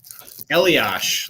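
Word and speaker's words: Eliáš: But the first one I had was you pronounce it Elias or Elias? Eliash, like Patrick Eliash.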